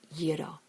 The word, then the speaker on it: gyros: everybody knows that movie and who doesn't love Gyros Insider tip the correct pronunciation is yido now go thrill your Greek waiter Greeks are